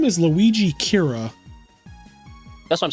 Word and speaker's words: Kira: oh here it goes Kira is just the Japanese pronunciation of the English word killer um the closest Japanese